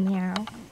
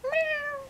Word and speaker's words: Meow: Oh, hello, meow. You're saying it wrong. It's pronounced meow.